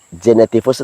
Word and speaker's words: genetivus: Sekedar diketahui, genetivus tulisannya G-E-N-E-T-I-V-U-S, dibaca genetivus. Masih ingat pengucapan G dibunyikan J di depan huruf vokal atau huruf hidup.